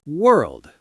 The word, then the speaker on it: world: What about the word world? That is a nightmare for people. World is the final boss of pronunciation. It's got the R and the dark L, right?